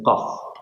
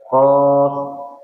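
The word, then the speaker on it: ق: Ini qof. Coba diucapkan ini. Perhatikan juga pangkal lidahnya naik lagi. Yang ini pangkal lidahnya naik lagi. Ditinggikan suaranya agar tebal ya. Kalau ininya enggak naik enggak jadi tebal.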